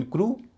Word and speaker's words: crew: इन क्रू क्रू में ई डब्ल्यू से पहले र है। आर की र ध्वनि है। और र की ध्वनि जोशी उच्चार में है। आखरी ध्वनि र की है। इसलिए उसका उच्चारण हो रहा है उ।